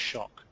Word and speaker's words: SIOC: you looked at this it's written SC siio but it's usually pronounced shock semantically interl online communities